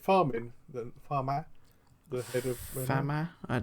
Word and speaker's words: Famin: farma the head of fam it's it's spelled famine but probably fam cuz it's a French po I assume but he actually said